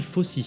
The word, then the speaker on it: Fosse: Ça s'écrit Fosse mais on dit Fosse.